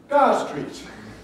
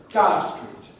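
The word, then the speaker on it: Gower Street: where is university college i'll say oh it's in gar street now what's important therefore for efl is to be able to undo this and when you hear somebody say dar street to know that that means galway streets the way i see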